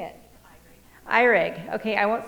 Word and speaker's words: Erig: known you forever how do you say it irig okay i won't say that wrong again she's